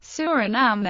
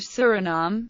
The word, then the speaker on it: Suriname: in the English pronunciation, Suriname, or Suriname. In Dutch, the official language of Suriname, the pronunciation is Suriname, with the main stress on the third syllable and a schwa terminal vowel.